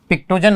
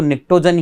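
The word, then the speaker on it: pnictogen: Okay देखिए दोस्तों इसको पिक्टोजन आप पढ़ेंगे यहाँ पे देख रहे हैं पा रहे हैं, लेकिन इसको निक्टोजन ही कहते हैं। पी जो है साइलेंट रहता है दोस्तों, इसको निकोजन इसलिए कहते हैं दोस्तों।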